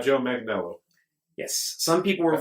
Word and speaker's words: Manganiello: Joe Manganiello.